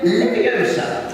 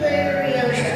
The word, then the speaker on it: Leviosa: Wingardium Leviosa. And Hermione. Stop. Nearer. The microphone. Stop. You're going to take somebody's eye out. Besides, you're saying it wrong. It's Leviosa.